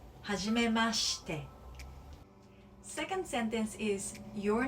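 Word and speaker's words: はじめまして: And pronunciation wise, はじめまして is a sh.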